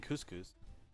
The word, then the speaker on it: couscous: Is the S not silent? Uh, no. And not in couscous. That's how I think that's how it's supposed to be said. That's how it's said. It's said similarly in Portuguese as well.